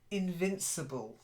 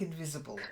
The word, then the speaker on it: invincible: battering ram okay then Invincible not like invisible yeah Invincible during my